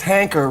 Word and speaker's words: Hanker: His last name is Hanker. Rhymes with wanker.